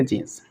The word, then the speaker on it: जीन: जीन कहेंगे। क्या कहेंगे? जीन। इसे जीने नहीं पढ़ेंगे, जेने नहीं पढ़ेंगे, जीन पढ़ेंगे, राइट गाइस।